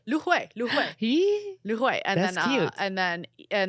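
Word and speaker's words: 芦荟: Lu hui. Lu hui.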